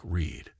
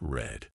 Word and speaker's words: read: to keep things interesting read in the present is pronounced like Reed but in the past it's red mind blown and why do